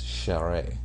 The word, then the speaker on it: Charest: I found out that that's Travis Charest. Hey, again, you're the pronunciation guide guy.